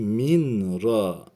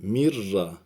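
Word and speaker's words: مِن رَّبِّهِمْ: Okunuşu minra değil mirra.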